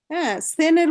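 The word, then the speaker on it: zehn: বলছে জিপ জিপ সেন সেনের উচ্চারণ আগে সঠিক না হলে বাকিগুলি সমস্যা হতে পারে এটার উচ্চারণ সঠিক উচ্চারণ সেন বাংলায় লিখলে যদি কেউ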